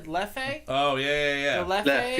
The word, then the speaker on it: Leffe: I always said leffe. Oh, yeah. The leffe. Left, yeah. It's Left. actually left, pronounced left. Left, because it's French.